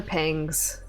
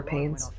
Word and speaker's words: pangs: in front of me hunker pengs with a g is how you say it it's not hunger pains i don't remember what